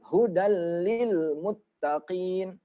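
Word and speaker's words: هُدًى لِلْمُتَّقِينَ: boleh kita dengungkan bacanya contoh baca yang salah ini contohnya huddles lilmuttaqina salah karena kelamaan hodal kelamaan itu salah Jadi dia cepet hudalil hudallilmuttaqin langsung ini juga ketemu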